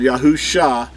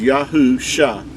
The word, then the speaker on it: Yahusha: makes the ah sound yahusha is how you would say the the mashi the messiah's name pronounced as yahoo shah is the way you would pronounce his name this is we talked